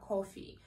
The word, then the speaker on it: coffee: american accent is that there is no o sound there so you don't need to round your lips for this sound but you also don't have to think about the russian ah sounds it's not coffee and it's not coffee it's coffee so you drop your